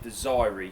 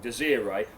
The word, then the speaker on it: Desiree: Okay, I used to pronounce it Desiree, it's totally wrong, Desiree, a nice red potato which I find absolutely beautiful for making chips.